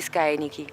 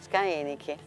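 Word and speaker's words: scaenici: Ludi Scaenichi. Scaenichi. Pronuncia antica.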